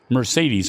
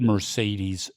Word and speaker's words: Mercedes: So, Mercedes, Max, it's a great word. There's 3 E's. Each one of them is pronounced differently.